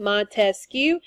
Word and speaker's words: Montesquieu: to in control Montesquieu so if you think about his name Montesquieu it has three syllables so you think about